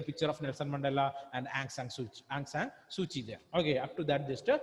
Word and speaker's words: Aung San Suu Kyi: Spelling is Aung San Suu Kyi. Okay. But that is not the correct pronunciation. It is Aung San Suu Kyi. Aung San Suu Kyi.